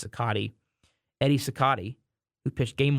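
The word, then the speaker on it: Cicotte: on baseball because and I know there are two pronunciations for his name uh Cott or cotti I've heard both I believe it is sakati Eddie cotti who pitched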